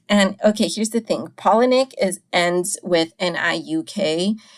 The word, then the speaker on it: Palahniuk: his first name and his last name rhymed so I'm a little disappointed that to find out that they actually don't rhyme but you know I I will respect that the proper way to pronounce it is penic I apologize for last